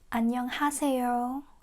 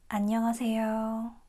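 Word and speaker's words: 안녕하세요: And if you just speak this one letter, it's correct to say ha, but native speakers don't say this. We say a. Mhm? Because listen carefully, we don't say annyeonghaseyo, we say annyeonghaseyo. So it's more like a a, not ha.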